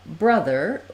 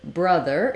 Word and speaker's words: brother: the word uh brother the letter O says the vowel schwa the stress schwa I've Rewritten that for you here with the letters uh so schwa is spelled with letter U in a lot of words like much but o is also also a common spelling for schwa words like sum money these all have the uh sound in the word brother it's similar to the word mother a common error pattern